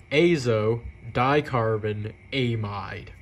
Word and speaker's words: azodicarbonamide: Amite groups there you go that's how you pronounce it AO dcarbon amide simple but um yeah so what's the issue